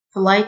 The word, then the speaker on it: flight: مضيفة الطيران Flight Attendant. GH silent Flight Attendant.